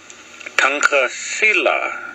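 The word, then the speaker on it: Tunkasila: But ton, t as in ton, as in uncle, ka, almost. Tonka Sila is the word and how it is pronounced.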